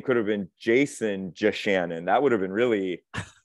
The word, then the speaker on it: Yachanin: Everybody mispronounces it. It's Yachanin. Yachanin.